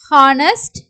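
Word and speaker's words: honest: வந்து சைலெண்ட் ஆகும் எக்ஸாம்பிள் வந்து ஹவர் ஏர் ஹானர் ஹானஸ்ட் ஹவர் சோ இங்க வந்து ஹச் சவுண்ட் இருக்கற மாதிரி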